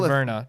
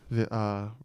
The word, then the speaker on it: Virna: I like both these girls, but I'm more rooting for Verna For how do you say her? Virna? Yeah, Virna.